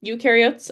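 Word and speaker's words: eukaryotes: As I said, ukareotes are more complex. So, we have plants and animals as our main two that we focused on this year. So, u rhymes with do.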